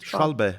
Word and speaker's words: Schwalbe: Oh, is it schwalbe? Yeah, they're German. Schwabbe should we pronounce it now a lot.